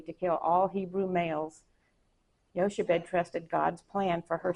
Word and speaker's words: Jochebed: And then Jochebed, mother of Moses. I think that's pronounced Yoshebed.